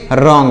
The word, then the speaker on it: wrong: WRONG, रॉन्ग मतलब हो जाएगा गलत, यहाँ पर W साइलेंट है, हम इसे नहीं पढ़ेंगे।